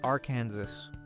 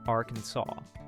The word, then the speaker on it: Arkansas: In 1881, Arkansas legislators were tired of the debate over whether their state should be pronounced our Kansas or Arkansas. To settle the matter, they made the correct pronunciation, Arkansas, official by law.